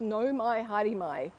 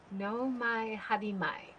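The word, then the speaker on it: nau mai haere mai: it is it says no my harimai which means welcome to so it means welcome to the flagship no my hadimai like yeah yeah yeah so the au is pronounced oh no my hair re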